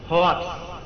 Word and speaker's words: hoax: Waspadalah terhadap hoax. Tulisannya hoax, bacanya hoax.